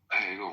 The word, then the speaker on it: Hegel: Greg Hegel runs with bagel. Greg, you there buddy? Also rhymes with bagels.